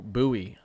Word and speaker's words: Bowie: Sherman, through Gainesville through Buoie. I someone said that's pronounced buoy, not Bowie.